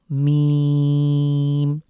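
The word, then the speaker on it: ميم: গুলো আলহামদুলিল্লাহ এরপরে হলো মিম ম এর রশ্মি বা দীর্ঘ ইকার মীম আমরা তিন সেকেন্ড লং করে পড়বো এটিও অষ্টবর্ণ বা ঠোঁট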